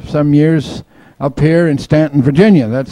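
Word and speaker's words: Staunton: let them correct you you know that it's Stanton and uh even the um Statler Brothers will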